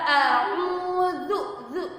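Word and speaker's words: أعوذ: Zu ya, pengucapannya za itu digigit, zu. Jangan zu, apalagi ju, uju, tidak, salah ya itu ya. Yang benar adalah a'udzu, zu.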